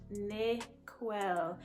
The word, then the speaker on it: Niquell: middle name is well it's pronounced ne quell n-i-q-u-e-l-l next question is